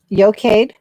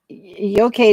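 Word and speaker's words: Eochaid: guess you can't really yocade is yokaid is the e-e-o-c-h-i-d-h um and and yocade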